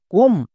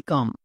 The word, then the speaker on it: come: কারণ এখানে কম হবে না, এর উচ্চারণ হবে কাম।